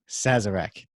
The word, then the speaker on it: Sazerac: Be sure to check that out for the how to make a, how do you pronounce that again? Sazerac.